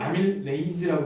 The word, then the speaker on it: 아밀레이즈: 근데 요즘은 아밀레이즈라고 발음하죠?